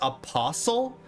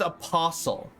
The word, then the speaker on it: apostle: not Apostle it's pronounced Apostle no way no way you are this is a troll Apostle no Apostle no way Apostle what like whistle or listen hustle jostle Apostle bristle thistle or